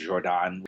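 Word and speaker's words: Jordaan: an area out there called the Jordan which is like the word Jordan but spelled with an extra a it's a very residential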